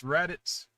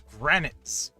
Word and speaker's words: Raditz: Here's Raditz.